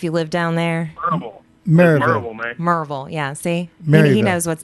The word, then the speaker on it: Maryville: spelled mville I know it is but it's pronounced marville merville Jim you can back me on that right